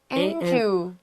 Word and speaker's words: Anju: How would you say that? Anju. J-U. Anju. That's right.